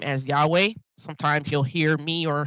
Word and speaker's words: Yahweh: The Elohim I serve is Yod He Wahe, and you will hear me pronounce that name as Yahweh.